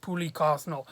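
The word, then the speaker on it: Pooky Quesnel: uh pulley quesnez cosnell i believe her name is pronounced poorly carsonal um who's a great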